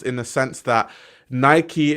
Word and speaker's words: Nike: The American hegemony pronunciation of Nike. Just no, I pronounce Nike the way it's supposed to be pronounced, in the sense that Nike is named after the Greek goddess, right? So it's pronounced Nike.